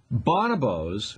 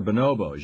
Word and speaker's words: bonobo: male chimps in particular bonobos or bonobos you can pronounce it either way bonabo is another kind